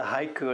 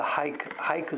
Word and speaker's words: haiku: There's the haiku that everybody knows. The word actually has a silent U. Everybody calls haiku, but here in Japan, the U is silent.